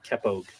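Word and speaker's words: cepóg: singing, was called Kepog, C-E-P-O-G in Irish, but pronounced like K-E-P-P-O-G-E, Kepog. But this word was used in Ireland too.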